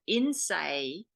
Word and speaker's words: Innsæi: from Iceland, of all things, and it's called Innsæi. That's an Icelandic term. Let me spell that for you.